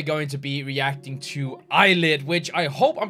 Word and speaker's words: ILLIT: I remember last time I kept saying well ill it because I thought that was how it was supposed to be pronounced but you guys told me in the comments that it's supposed to be like kind of akin to eyelit and just I guess